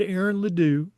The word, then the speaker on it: Ledoux: And when we come back, we're going to see what Aaron Ledoux.